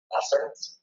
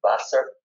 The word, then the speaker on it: Wasser: Wasser. Could you repeat that a couple more times? Wasser. W-A-S-S-E-R in English letters. But again, the W is pronounced as a B.